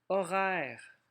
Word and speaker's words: horaire: Horaire, on a un O fatigué. Le mot commence par un H muet.